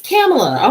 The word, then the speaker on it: Kamala: just can't do it although pamela harris is a cameler kamala or kamala i think i was saying it wrong all this all this time saying uh cam a little bit um or kamala i think that's what i was calling her everybody it's kamala okay i'm sorry just